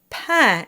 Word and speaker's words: pain: It's in the word pain and it's the A I N combination. Pain simply means bread and it's really important to sing that with an open sound because pain can get a bit squished into pain.